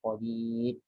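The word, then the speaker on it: قدير: Nah, kadang ada sebagian baca seperti itu, qadir. Benar nggak itu bacanya? Ya benar ya, masa baca qadir. Padahal di situ ada kaidah khusus ya. Kalau ro sebelumnya ya, sebelumnya kasrah mesti dibaca tipis, qadir.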